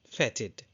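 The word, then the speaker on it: fetid: And the next word is fatted. Yes, you can see the spelling and the pronunciation on your screen. The spelling is f e t i d and it is pronounced as fatted.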